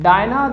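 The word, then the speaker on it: Diana: अब इन्होंने क्या दिया, इन्होंने 28 सोनेट्स का सीक्वेंस मतलब कलेक्शन डायना हिंदी वाला डायना नहीं, वो डायन नहीं, डायना। तो डियाना नहीं, प्रोनाउंसिएशन ध्यान दीजिएगा, डायना में उन्होंने 28 सोनेट्स का कलेक्शन दिया।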